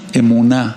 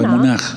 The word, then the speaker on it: emuná: Ahora, si es una emuná o emunaj, a veces se puede pronunciar también así.